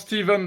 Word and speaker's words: Stephen: King de nouveau ah je prononce à la française he parce qu'en anglais que ce soit écrit Stephen ou Steven on prononce Steven dans les deux cas bon vous voulez un